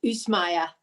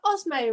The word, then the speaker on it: Ozmaya: So it's actually pronounced Ozmaya, but Ozmaya will do, or just call me.